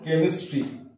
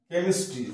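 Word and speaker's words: chemistry: টা সাইলেন্ট হচ্ছে after C এর পরে যখন এইচ আসছে তখন সেটা সাইলেন্ট যেমন কেমিস্ট্রি কেমিস্ট্রি সি এইচ তাহলে সি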